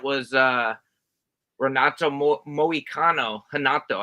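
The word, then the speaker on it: Renato: uh rato Mo moicano hanato actually because he's Brazilian you don't you don't pronounce him ours uh versus Drew Dober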